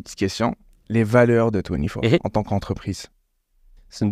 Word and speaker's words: Twenifor: Absolument, 24. Donc, ça s'écrit TWENIFOR, donc ça se prononce un peu différemment.